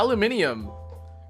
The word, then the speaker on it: aluminium: Yeah, aluminium. Aluminium is said the way that it's spelled, but we say aluminum here.